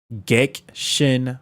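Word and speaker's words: Gekishin: Gexshin Squadra. So the I is silent. Is Gexshin Squadra.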